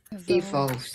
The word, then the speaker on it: evolve: say that language evolves. Can you say this word? Evolve. Evolve. Evolve. That's it. Second syllable is stress.